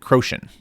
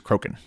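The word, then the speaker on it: Crochan: I always uh pronounce it Croin. Um but I do know now that it is Croken.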